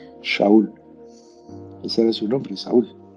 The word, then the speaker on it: Shaul: él se llamaba Saúl y se pronuncia Shaul.